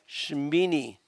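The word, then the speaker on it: שְׁמִינִי: When you have two dots at the beginning of a word, the most important thing is you slide over them for the next syllable, which is me, and then ni, Shimini, Shimini.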